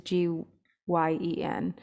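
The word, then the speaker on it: rgyan: I don't know how to spell it widely wise, but often used, it's it's like G, the pronunciation is Gyen.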